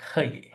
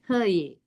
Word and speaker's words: haye: How to pronounce her and hey, right? It's not, because in my understanding, hey means H-E-Y, and here I would say H-A-Y, right? Her, not hey, not hey.